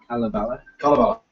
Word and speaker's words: Kalevala: We finished up a comment from Artemir, one of our online friends, on the pronunciation of Kalevala. Last month, Apparently it's all short vowels, emphasis on the first syllable.